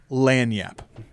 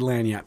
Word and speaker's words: lagniappe: exactly well it's the lan yap section all right then good luck google it there's a silent g in there somewhere there might be at